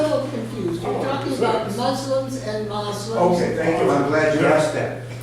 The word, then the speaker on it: Muslim: to use the word Muslim, however, pronounced Muslim, not Muslim, M-U-S-L-I-M with a hard S, Muslim, because that more closely approximates the Arab pronunciation.